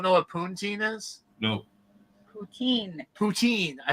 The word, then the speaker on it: poutine: waited three hours in line just to have poonteen yeah routine i think is how you say oh whatever poontang how's that i have no idea um you don't know what puntine is no poutine poutine i pronounce it rob so uh better